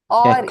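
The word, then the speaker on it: 百: Now with the pronunciation of hyak, what you need to be careful about is not to say hak or Hyak. yak. Okay, so you shouldn't say hak or yak. It's hyak. Hya. Hya. Try and pronounce that a few times until you get it.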